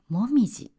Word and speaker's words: 紅葉: 実は紅葉という漢字は訓読みで読むともみじと読みます。